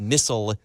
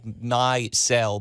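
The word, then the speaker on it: Misell: So it wasn't until like 1899 when a man by the name of David Missel or Missel, it's spelled like my-cell, but it's maybe pronounced Missel.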